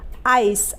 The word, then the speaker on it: ice: तो आई के लिए आ ई, सी के लिए स लिखेंगे, और आखिर में ई है तो ई का उच्चारण नहीं होगा, यानी कि वो साइलेंट रहेगा। तो ये बन जाएगा आ ई स, आइस, ICE आइस।